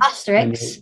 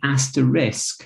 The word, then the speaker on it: asterisk: know the little star that you sometimes see asterix exactly asterix you said but it's actually did you know it's actually an asterisk so the word is actually asterisk i mean